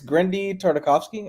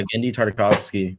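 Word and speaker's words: Genndy Tartakovsky: they're not bad I don't think there it's greny tartakovsky I can never pronounce his name yeah gendy tartakovsky that did those and they're not bad movies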